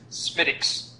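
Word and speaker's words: Smithwick's: don't understand the conundrum there but uh it's pronounced smiix it is pronounced although spelled Smithwick and Dave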